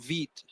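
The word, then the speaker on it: Vite: Vit. Um is that is that the new hotness? Yeah. All right. Is how do I spell that? Vit. VIT. It's the French word for uh fast.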